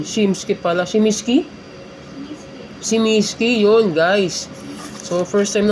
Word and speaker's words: Smiski: toys or us yata saeta so naghahanap ako shiminski o shimimi kaya pala sabi ni kuya shoutout sayo kuya sorry hindi ko alam yung Mong tamang pronunciation. Shimski pala. Shimiski. Shimisky yun guys.